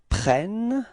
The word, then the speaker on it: prennent: Okay, so you can notice that the first E of prennent is pronounced like eh. And the reason for that is that you've got a double N after that, so it changes the pronunciation of the E, okay?